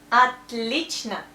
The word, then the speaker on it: отлично: It's отлично. You see, that's O, but we pronounce A because of stress here.